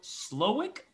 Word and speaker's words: Slowik: have a special guest slowick i pronounce that right you pronounced it perfectly fine for america yeah right my name